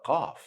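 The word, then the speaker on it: ق: If we're gonna say the word call in English, try to go deeper a little bit in your throat to find the Qaaf.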